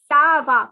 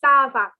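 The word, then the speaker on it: ça va: so it is como the next is saba okay so it's not a kaabah or it's not anything else it is sir saba please remember sava so i'll repeat the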